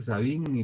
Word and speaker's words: Savigny: Aquí dice Savigny, pero según las personas versadas en el idioma alemán se pronuncia Savigny.